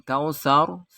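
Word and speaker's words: كوثر: Kemudian kautsar, ro-nya ini dibaca tafkhim karena ro disukun karena waqaf jatuh setelah fathah.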